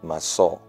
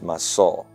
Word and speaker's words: massa: their root Hebrew meaning the word Bing in the Hebrew means massau it means massau but it's spelled m a SS a it means masau masau has two primary